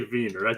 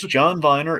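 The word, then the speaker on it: John Viener: a v is Viner okay I always say verer that's how I heard that's how I've heard it pronounced it's John Viner aka the orange juice guy and also the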